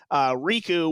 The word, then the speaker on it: Riku: I have to shout out listener Riku, which that is the canon pronunciation of your name now. Whether you wanted it to be Riku or something else, it's now Riku, who is the leader